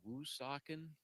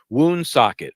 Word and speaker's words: Woonsocket: Is it called Woonsocket? That's definitely not the way it's pronounced.